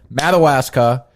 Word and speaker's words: Madawaska: Madawaska. Madagascar. How do you say it? Madawasa.